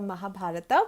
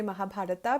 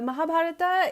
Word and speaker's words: Mahabharata: to it as the Mahabharata we call it the Mahabharat but I would say Mahabharata because it's the English pronunciation and the a is stressed so the Mahabharata is the book that